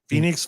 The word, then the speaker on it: Fenix: Yeah, Yeah, Phoenix Fits. Yeah, Phoenix Fits. yeah, spelled Fenix.